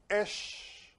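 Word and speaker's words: אש: And in Hebrew, in order to write fire, you write the letter alf and the letter shin together and you pronounce esh.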